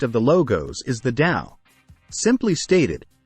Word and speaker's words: Dao: the logos is the Dao simply stated the Dao pronounced da is the creative conscious